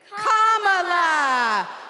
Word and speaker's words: Kamala: do you pronounce it first you say comma like a comma in a sentence then you say la like la la la la la put it together and it's 1 2 three comma all right so let's